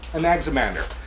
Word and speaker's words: Anaximander: Some of these Greek names can be hard to pronounce, but Anaximander.